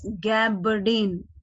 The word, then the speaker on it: gabardine: So you have to pronounce it correctly. It is gabardine, gabardine.